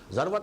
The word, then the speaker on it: ذروة: السنام، سنام کوہان ہے، اور ذروہ یہ دونوں اس کی تلفظ ہیں، زال کے زبر کے ساتھ بھی اور زال کے زیر کے ساتھ بھی، ذروۃ السنام اور ذروۃ السنام۔ تو میں تمہیں بتاؤں